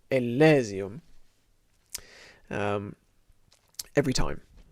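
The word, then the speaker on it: Elysium: aus election there's a huge amount of dispute about how to pronounce this word but i've decided that we're going to say ellesium um every time it's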